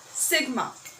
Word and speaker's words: sigma: Just for pronunciation, rho, sigma. Okay, so m is the mass of the body, rho is the density of the body.